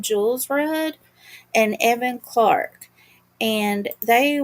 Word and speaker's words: Kjolsrud: They they pronounce her name Jules Rudd and Evan Clark.